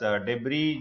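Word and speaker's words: debris: उससे वो भर गया तो अपने पास देवरी जो शब्द है इसमें एस को प्रोनाउंस नहीं कर रहे हैं मलबा होता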